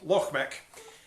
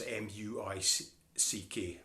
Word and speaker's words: Muick: So, Loch Mick, pronounced like the name Mick, as in M-I-C-K. It's nae pronounced as it's written, which is M-U-I-C-K. Muick. It's nae, that's nae, it's Mick, Loch Mick.